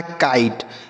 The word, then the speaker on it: kite: अब आई का उच्चारण होगा बच्चों आई और टी से पढ़ेंगे ट, और किसी भी शब्द के लास्ट में ही रहेगा तो उसे नहीं पढ़ेंगे। यह लिखा है काइट।